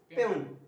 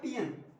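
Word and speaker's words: peon: आप बोलिए, आई एम पेन, है ना, वैसे इसका करेक्ट प्रोनाउंसिएशन होता है पियन, ये लिंग्विस्टिक में पढ़े, ये बात की बात है, आई एम पेन नहीं बोलो, लेकिन वहां पियन होता है करेक्ट, आई एम पेन, ठीक है।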